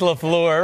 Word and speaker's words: LaFleur: Is that how you say it? Say it again. Matt LaFleur. It's LaFleur. Oh, I like that. I like the other way. A little Pepe Le Pew. LaFleur. Remember Pepe Le Pew?